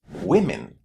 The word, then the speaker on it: women: On the other hand when we say two women or many women the vowel sound in the first syllable is a short i.